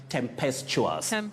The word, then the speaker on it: tempestuous: relationship that is right tempestuous don't say it and pest to us it's chewers tempestuous impetuous contemptuous so such